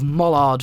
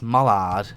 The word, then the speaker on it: Mallard: had the race of Mollard versus Flying Scotsman. Or was it Mallard? Not Mollard. It's Mallard. I keep pronouncing it wrong.